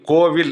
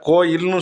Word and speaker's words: கோயில்: எப்படி உச்சரிக்கணும் என்ன பண்ணனும் ஒரு கோயில் கோவில் இப்ப ரெண்டு யூஸ் பண்றோம் இல்லையா ஒரு ஆலயத்தை கோயில்னு சொல்றோம் கோவில்னு சொல்றோம் எது உண்மை தொல்காப்பிய சூத்திரம் எடுத்து பார்த்தீங்கன்னா எது உண்மைன்னு தெரிஞ்சிரும் கோயில் தான் உண்மை கோவில் கிடையாது.